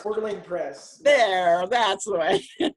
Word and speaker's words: Coeur d'Alene: I know it's hard to pronounce. Coeur d'Alene Press.